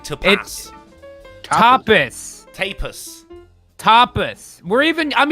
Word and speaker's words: tapas: say like to play tapas tapus tapas we're even i'm even using the soft a like you guys do over there just emphasize the first syllable not the second topic um i'm glad